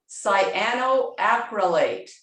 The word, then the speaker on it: cyanoacrylate: And how do you pronounce that? It is cyanoacrylate.